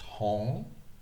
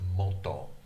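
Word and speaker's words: 本: This kanji is usually pronounced hong, but there's the Chinese style of pronunciation, and there's the Japanese style of pronunciation. The Chinese style of pronunciation is hong, but the Japanese style of pronunciation is moto.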